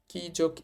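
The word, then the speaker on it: きゃ: কিউ কি এর সাথে যুক্ত করেছি ইও কিও কি যোগ ইয়া কিয়া কি যোগ ইউ কিউ কি যোগ ইও এটা হয়ে যাবে কিও আমাদের কি কি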